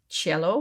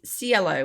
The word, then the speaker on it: Cielo: I just presumed it was pronounced Cielo, which is sky in Italian, but apparently it's not. It's Cielo, which is more the Spanish version, apparently.